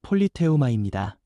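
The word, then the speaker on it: πολίτευμα: 여기서 시민권이라는 말은 헬라어 발음으로 폴리테우마입니다.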